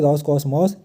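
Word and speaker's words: Roscosmos: तो आप यहां पे नाम थोड़ी उच्चारण करने में रशियन लैंग्वेज में डिफिकल्ट होता है। तो यहां पे देख लीजिए रॉस कॉस्मॉस। आप ऐसे तीन-तीन शब्द लेटर में जो है तो प्रोनाउंसिएट करिए। तो रॉस कॉस्मोस इसका फुल फॉर्म क्या है?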